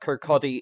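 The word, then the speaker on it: Kirkcaldy: you go via the north SE and and Kodi I know it's spelled kir k c a l d y but it's pronounced kotti it's don't ask me why and then you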